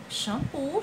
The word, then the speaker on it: xampu: com som de s é shampoo ou xampu xampu x com som de ch é exodo ou a